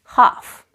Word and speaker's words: half: my walkie-talkie another word where the letter L is silent is half this is a half